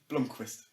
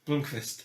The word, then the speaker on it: Blomqvist: How do you pronounce his surname? Blomqvist. Blomqvist.